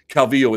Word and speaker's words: Calvillo: it is not true it is not true that you the only pronunciation for that is Calvillo Calvillo is not incorrect it might be her preferred method of pronunciation and that's fine if